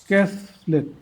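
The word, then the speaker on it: castle: English ওয়ার্ডে এস এলটি এর উচ্চারণ সল হয় এবং টি অনুচ্চারিত থাকে। যেমন রেসল এফিসল বাসল ক্যাসলেট ক্যাসল হাসল এবাসল আনবাসল অর্থগুলো বলি রেসল মিন্স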